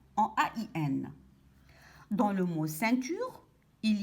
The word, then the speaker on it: ceinture: Nous avons appris que le C devant le E se lit se. Donc ici, E-I-N se lit sein. Ceinture.